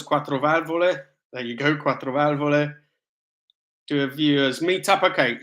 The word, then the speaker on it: quattro valvole: How do you pronounce quattro valvole? There you go, quattro valvole.